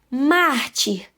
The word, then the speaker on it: mártir: Mártir. Qual é, gente, aí a penúltima sílaba? É o mar, né?